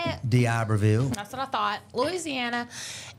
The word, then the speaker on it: D'Iberville: D'Iberville.